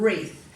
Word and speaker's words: wreath: were wreath or um so we drop the w and we just start the word with the er sound wreath but when you spell it you must spell it with the w in there too so we go wreath w-r-e-a-t-h and you cover it and you write it now if you're not spelling sounding it and spelling it you could forget that silent w so it's very important